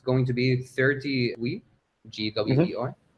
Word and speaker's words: Gwei: It's going to be 30 GWEI. Is that how you say it actually? Some people say GigaWei, because Wei is like the original, and it's 1,000 Wei. I just say Gwei, or Gui.